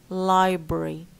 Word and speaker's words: library: But it becomes only a 2-syllable word.